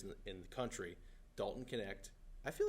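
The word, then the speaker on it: Knecht: belon can guy connect connect connect guy it's not spelled like connect it's spelled like k n e c HT super stupid but um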